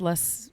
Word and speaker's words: loess: And how does less is spelled? It is spelled LOESS, and it stands for the Luss Hills, which is a major geographical formation out here on this west side of Iowa.